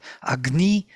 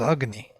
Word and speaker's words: agni: always on o cavi always have on the second syllable accent agni who says agni nowadays in india everybody says agni nobody would say agni sounds weird but this is the accent of this word so this is the